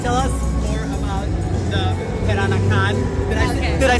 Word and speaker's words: Peranakan: Can you tell us more about the Peranakan? Okay. Did I say it right? Actually, it's like Peranakan. Because it's like they pronounce P like B. B. Yeah, it's like the same as B.